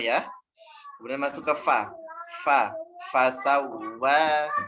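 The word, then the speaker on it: فسوى: Fasawwa. Nah, waw yang di sini ada tasydid, ditekan sedikit. Kemudian dipanjangkan 2 harokat karena ada ini alif di atas. Fasawwaka fa'adalak.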